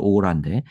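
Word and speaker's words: aura: 이거 영어식 발음으로 오라인데 오라 이렇게 발음하는데 우리는 보통 아우라라고 표현하죠.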